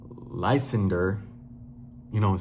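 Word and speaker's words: Lysander: I don't I feel I feel like I'm pronouncing his name wrong, but it's L Y S A N D E R. I just that's just how I read it. Lender, you know what I'm saying?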